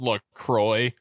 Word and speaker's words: LaCroix: Still on the LaCroix, huh? Surprised nobody commented. It's actually pronounced LaCroix.